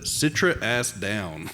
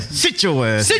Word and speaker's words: Citra Ass Down: Um, pretty sure they're in Kentucky, but Citra ass down. Citra forward. It says, "Sit your ass down." No, Stephen. You got to say it right. You got to sit your ass down.